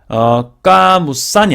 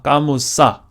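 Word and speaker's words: القاموس: 하지만 한정 정관사가 있다 보니까 까무산이 아니라 까무사 N 발음이 안 나죠.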